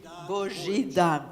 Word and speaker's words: Božidar: Please tell us how to pronounce it. Božidar.